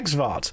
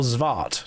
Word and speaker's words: Xvart: Yeah, Xvart or Zvart, depending on how you want to pronounce it.